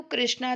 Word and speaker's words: कृष्ण: इस प्रकार है कृष्णा कई लोग कृष्णा को कृष्णा कहते हैं परंतु कृष्णा तो द्रौपदी का नाम है सही उच्चारण है कृष्णा राम इस प्रकार रामपट